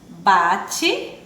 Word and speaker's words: bate: Bate, também, ó, com E. Mas quando a gente pronuncia, ó, bate, o E tem um som de I.